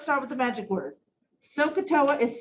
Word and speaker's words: SOHCAHTOA: six trig ratios all right friends magic word sokatoa here it is s o h c a